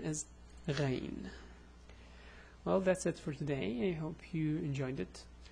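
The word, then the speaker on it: غين: Anyway, let's add the dot and pronounce it. It will be ra, ru, ri. Oops, I did the same mistake. Ri. So it's ra, ru, ri. And the name is Ghayn.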